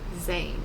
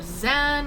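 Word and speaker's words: Zann: called the music of eric zane or zen or zahn or however you want to pronounce this last name it's z-a-n-n i had been pronouncing it in my head as uh zahn i think so i don't know why i just said zayn but we'll go with it i see french stuff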